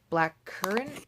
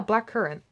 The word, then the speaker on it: blackcurrant: the raspberry the blueberry the black curry I think I'm sort of got a mispronouncing that word no blackcurrant which actually I just